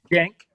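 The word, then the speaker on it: Cenk: Jenk. Jenk. Jenk. It's a J. It's a jen. It's a J. Jenk means war.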